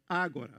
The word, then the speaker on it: Agora: The title of the work is Agora, with the accent on the first syllable.